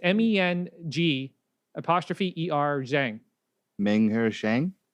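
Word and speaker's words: Meng'er Zhang: the respect that she deserves, how do we pronounce her name? It's MENG apostrophe ER Zhang. Meng Her Shang. Menger Zhang?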